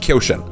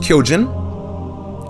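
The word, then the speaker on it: Kyōjin: about that word first koshen it should be pronounced kyojin and some of you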